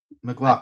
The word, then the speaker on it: MacLachlan: is, Hank, played by I get his last name butchered all the time, but Kyle MacLachlan, I McLaughlin. think. McLaughlin, thank you.